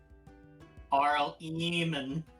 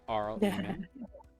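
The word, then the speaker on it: Eamon: Arl eman. Yeah. Arl eman.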